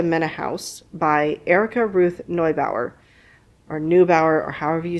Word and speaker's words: Neubauer: House by Erica Ruth Neubauer, or Neubauer, or however you say it. Neubauer would be the German pronunciation, but if you Americanize it, it might be Neubauer.